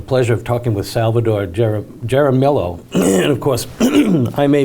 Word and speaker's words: Jaramillo: let me just say salvador how do you pronounce your last name so my last name is jaramillo uh so the j is like an h